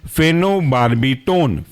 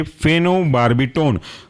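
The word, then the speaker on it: phenobarbitone: था long acting इसके अंदर का एग्जांपल है फेनो बार्बी टोन फेनो पी एच ई एन ओ फेनो और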